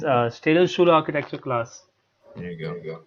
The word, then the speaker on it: Städelschule: It's Städelschule architecture class.